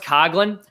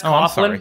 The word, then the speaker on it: Coughlin: I should mention too, it's pronounced Coughlin. Everyone says Coughlin.